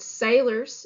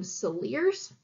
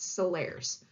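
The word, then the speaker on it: Salers: in college calling them soleares but if you look this up online a lot of sources are going to tell you that's pronounced solaris because it is French so Solaris it's how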